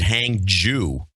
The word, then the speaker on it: Hangzhou: want to mention that the RT pronounces it and I think wrongly because the Chinese I get it from the Chinese stations hang hang John they pronounce it hang Jew well let me hear